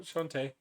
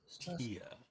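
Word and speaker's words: Chauntea: No, Shantae. Tia. Shantae, you Shantia. stay. Shantae? Shantia is how it's pronounced.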